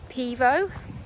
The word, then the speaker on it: Pivo: when I got my I was pronouncing it wrong it's not pivi oh it's Pivo my Pivo pod and